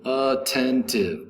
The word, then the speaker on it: attentive: 12 12 is attentive attentive attentive attentive as three syllables the accent is over the second syllable attentive attentive attentive is